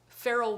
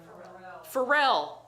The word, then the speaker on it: Pharrell: of masterclass for uh i never say his name right farrell williams pharrell williams farrell i i just always look at the word feral pharrell pharrell williams and the